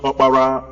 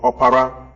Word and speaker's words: Opara: The name Oprah, as pronounced by Americans today after the woman known as Winfrey Oprah, is also a name among the Igbos pronounced Opara or Opara, meaning the first son of a family.